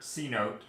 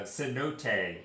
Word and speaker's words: cenote: This is Desert Cenote, or no, it's a Cenote.